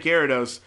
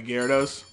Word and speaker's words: Gyarados: purposefully call it a Gyarados I don't think that's actually how you pronounce it I think it's like jira daus or something but I call it